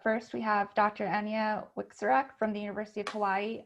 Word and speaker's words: Wieczorek: You did a wonderful job pronouncing my last name. I am Anya Wieczorek, and I'm the Interim